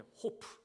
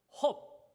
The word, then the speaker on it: hope: 친구의 이름은 hope 허비예요 발음을 이렇게 하면 안 돼 호프 맥주가 아니고 헙 소망이에요 소망 끝까지 동행했던 친구 우리